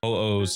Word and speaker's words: Huohuo: or not you actually need or should want Huohuos. And guys, I know it's pronounced Huohuo, but I'm going to call her Huohuo because Pokemon reference.